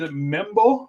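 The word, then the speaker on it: Membou: um tackle from mou Armand membo I believe is how you pronounce that last name um he's 63 20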